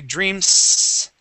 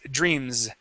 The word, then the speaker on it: dreams: Okay, and when Carlos was reading the word dreams, okay, dreams, okay, we don't say dreams, okay, with an S sound, it's dreams, okay, it has that vibration, okay?